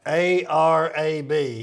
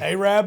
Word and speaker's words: Arab: Long A. Long A. Ahab the Arab. What's that guy's name? Yeah, you do. Ray Stevens. He had a song, Ahab the Arab.